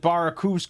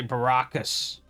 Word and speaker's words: Barakus: clenching your fists like this is supposed to be about Baracus and he pronounces it Barakus cuz he doesn't want to say Baracus.